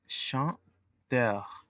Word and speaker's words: chanteur: La pronunciación es chanteur.